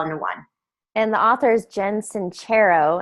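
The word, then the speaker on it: Sincero: one and the authors Jensen chair oh and I found out just this past week and that's how you pronounce it cuz I just finished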